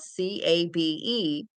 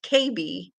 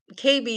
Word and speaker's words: Cabe: and the the doctor's last name was spelled C A B E so I thought oh his name is Cabe and he pronounced it KB and uh so I asked him where he